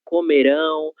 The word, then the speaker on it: comerão: Sempre que nós tivermos um verbo terminado em ã, isso significa que a sílaba mais forte dele será esse ão. Comerão, farão, beberão.